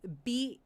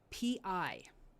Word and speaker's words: bi: Bi is spelled b i.